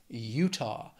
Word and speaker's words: Utah: then we have Utah two syllables stresses on that first syllable Utah after that is Vermont also